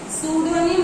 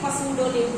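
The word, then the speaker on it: pseudonym: तो उसको जब साइलेंट मार जाएंगे तो सूडोनिम हम लोग पढ़ेंगे, ना कि पसूडोनिम पढ़ेंगे। ओके, तो PSY है ना, PS हो जाएगा, PSY साइकोलॉजी वाला।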